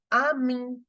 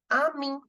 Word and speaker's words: ami: we will say friends in French simply as Amy Amy okay we know that we pronounce a in French as a a is